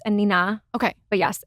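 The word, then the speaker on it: Anine Bing: I thought it was Annie Bing. So everybody does. Oh, okay. Yes. Okay. I believe she's Swedish. Okay. I only recently learned that it's Anina.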